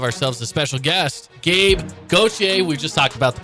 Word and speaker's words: Gauthier: So they said, well, in Canada, it's Gauthier. It's French-Canadian. I'm like, man, that sounds awesome, right?